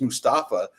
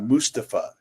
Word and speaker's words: Mustafa: just talking to him we've been mispronouncing his name the entire time like this I always thought his first name was just Mustafa and he pronounces it uh Mustafa and and I was